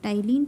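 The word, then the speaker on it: ptyalin: of liary Ames tyen tyen p is silent here tyene is the enzyme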